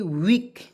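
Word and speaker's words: weak: यहाँ हम देखेंगे डब्ल्यू ई ए की वीक, डब्ल्यू से वह, के से क, और 2 कंसोनेंट के बीच में ई ए आता है, उसको उच्चारण बड़ी ई के रूप में कर लीजिए, आँख मूंद के कहीं भी दिखे तो, ठीक है।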